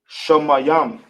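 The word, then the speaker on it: שמים: How we pronounce it in the ancient will be Shamayam. Sha. Ma. I hope everybody understands my writing. I'm telling you, my writing is horrible. Sha. Ma. Yam.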